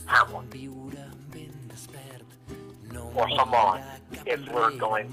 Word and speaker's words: Hamon: I always pronounce it Homon. Like trying to say the name Hammond. Just take out the N, the B, and the extra N, and you get Hamon.